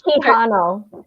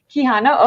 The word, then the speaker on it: Quijano: and I should have asked her how to pronounce her before we started because I don't want to butcher it. So, when It's Quijano, Quijano, okay.